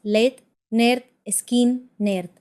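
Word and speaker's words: Lynyrd Skynyrd: Poco después de firmar, lanzaron su álbum de debut, Pronounced Led, Nerd, Skin, Nerd.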